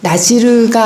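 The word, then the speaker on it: נזיר: 신학자들, 학자들은 그래서 그 근거를 그래도 구약에서 찾아내려고 찾아낸 것이 이제 나실인 이게 히브리 발음으로는 나지르인데 나지르가 아닐까 나시린 구별된 자라는 뜻이죠.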